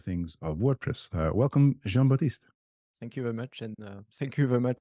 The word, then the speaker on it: Jean Baptiste: thank you very much for uh pronouncing correctly my name I think you are the only exception outside of friends who know how to say joh batist but if it's easier